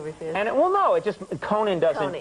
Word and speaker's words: Conan: Okay, Conan. All right, Coney. I'd just be happy if half the people could pronounce it right. I mean, What do they say, Conan? No, they go, Conan.